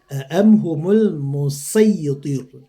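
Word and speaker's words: مصيطر: Kita lanjut di surat apa juga At-Tur, am humul musaytir ya, musaytir ya, bukan musa ya.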